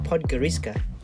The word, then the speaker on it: Podgorica: Today we are taking a trip to the capital of Montenegro, Podgorica. It's pronounced Podgorica.